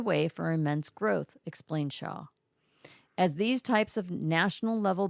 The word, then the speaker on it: Schau: This woman's name is Schau, and I think each time I said her name, I pronounced it differently. Shaw. We apologize. Shaw. I'm sorry, but she knows what she's talking about.